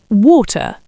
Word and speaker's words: water: I would say water. A clean T.